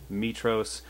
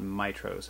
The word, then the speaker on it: Mitros: was pronouncing it incorrectly it is in fact pronounced mitros not mitros as i had said before so sorry about